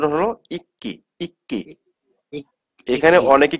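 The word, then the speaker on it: 읽기: উল্টা এখানে কি হইছে সাইলেন্ট থাকছে তাহলে কি উচ্চারণ হলো ইক্কি ইক্কি এখানে অনেকে কি পড়ে ইলগি তাই না ইলগি উচ্চারণ করে কিন্তু অনেকেই ইলগি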